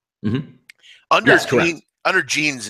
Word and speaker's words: Jean: But pronunciation for Jean Seagura like blue jeans.